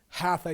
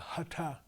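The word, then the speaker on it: हठ: mandolin pandita okay pandita not hatha yoga but hata hata yoga okay not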